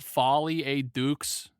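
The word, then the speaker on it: folie à deux: they fully uh pronoun it's pronounced Folly a dukes no Dar you ever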